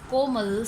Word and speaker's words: Komal: Like if my name is Komal, so what are the parts of my name? There are 2 parts, like ko and mal.